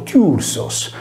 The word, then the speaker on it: Θύρσος: Il Tirso latino riprende tale quale il Tirso greco, scritto e pronunciato Tursos.